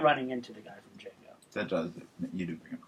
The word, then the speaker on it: Django: I believe the D is silent. The D is silent. It's Django. It's Django.